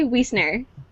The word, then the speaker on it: Wiesner: Did I say it right? I said it right? Yes, you did it. Okay, good. We talked about it and then I forgot if it was Wiesner or Wiesner. No, you got it.